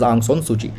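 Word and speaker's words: Aung San Suu Kyi: aung san suchi so it is pronounced as ang son suji so her nld it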